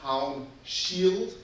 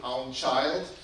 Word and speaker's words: Haunschild: to tell you that my name is pronounced Haunschild. Most Americans pronounce it Haunschild. And to give you an explanation, Haun is the prefix for hitting hard. So one of my ancestors was a shield smith and not a child beater.